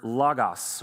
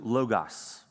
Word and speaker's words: logos: order was the word logos or some people use the pronunciation logos. This is a Greek word um that is kind of like you can pronounce it either way.